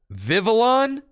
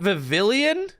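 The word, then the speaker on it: Vivillon: you spell Pavilion Vivid vivilon it's not vavilion it's just it's vivil on man I've been reading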